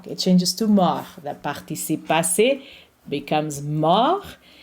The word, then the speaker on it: mort: It's morte. If you are pronouncing the masculine form, the T is silent. It becomes mort.